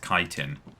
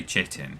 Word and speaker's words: chitin: although I know full well that this is pronounced chitin it's much more fun to say cheating isn't it everyone loves a bit of chitting